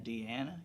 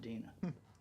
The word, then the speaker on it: Dina: Do you know I've been saying Deanna Kilpatrick? But she pronounces it Dina.